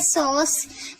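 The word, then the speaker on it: sauce: इसी तरीके से सॉस, एस को सा पढ़े, ए यू को ओ पढ़े और सी को सा पढ़े। लास्ट वाले को हम पढ़ते नहीं है, साइलेंट रहता है इसलिए। तो इसे देखिए सॉस पढ़ा जा रहा है।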